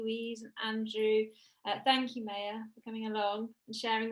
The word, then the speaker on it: Maya: This is Maya's name. There you go. And she likes it pronounced May. Not anything else, just saying.